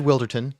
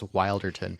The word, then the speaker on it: Wilderton: know I was asking is this wilderton or wilderton um and you said wilderton and that's good to know that that's the official pronunciation because I've probably been spreading around the wrong one I think the funny